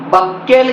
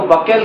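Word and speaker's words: buccal: हम लोग कहते हैं बांकल कैविटी कहते हैं थोड़ा सा अच्छे से इसका स्पेलिंग जो है देखना है नहीं तो बक्कल कैविटी के बदले में बोका कैविटी हो जाएगा तो बहुत खतरनाक फिर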